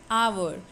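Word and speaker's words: hour: अब इंग्लिश में स्पेलिंग देख करके आप कंफ्यूज हो जाएंगे कि ये तो एच से स्टार्ट हो रहा है, पर नहीं, हमें देख के नहीं, हमें सुन के प्रोनाउंसिएशन पर ध्यान देना है कि उच्चारण में पहला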